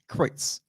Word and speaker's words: Kreutz: Kreutz. There you go. Kreutz.